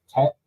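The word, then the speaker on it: Teth: When you look at the Hebrew letter association with this, the letter is, I think it's pronounced Tet, T-E-T-H.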